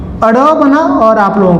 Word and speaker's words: ड़: एक आपका अड़ौ है, एक आपका अढ़ौ है।